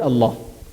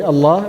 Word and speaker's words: Allah: Fatah or Obama than the word Allah will be pronounced in heavy heavy so here the